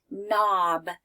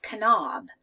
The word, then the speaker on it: knob: about this one okay we would the K is quiet so I would sound it out ah knob knob right turned the doorknob to open up the door I wouldn't say Kanab right turn the door